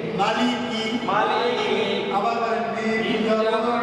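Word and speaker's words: مَالِكِ: মা লাম জের লি লাম জের লি মালি মালি কাফ জের কি কাফ জের কি মালিকি মালিকি আবার বলেন মিম জবর মা মিম জবর মা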